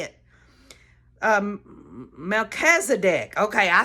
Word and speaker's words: Melchizedek: I don't know how to say it um Melchizedek okay I said it right that time priesthood